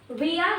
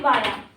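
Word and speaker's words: via: तो अभी उसी क्लास को कंटिन्यू करते हुए अब नेक्स्ट है विया या फिर वाया। इसकी जो प्रोनाउंसिएशन है उसमें आप इसको विया भी बोल सकते हो या वाया भी बोल सकते हो।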